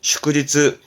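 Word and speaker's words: 祝日: 발음은 슈크지츠, 슈크지츠.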